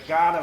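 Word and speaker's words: Kaurna: And Ghana is is is spelled K A U R N A.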